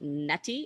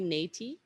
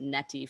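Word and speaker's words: Neti: may have heard of a lot of folks call it NTI it's a long e niy it was a tough one for me to learn after calling it netti for you know about 10 years um which is the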